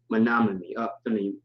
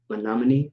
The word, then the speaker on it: Menominee: That's how you pronounce it. Okay. Menominee. Menominee. Menominee.